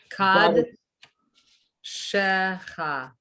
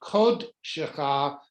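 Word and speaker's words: קָדְשֶׁךָ: Kad shecha. Exactly. But it's actually kod shecha because the root word is kodesh, holiness.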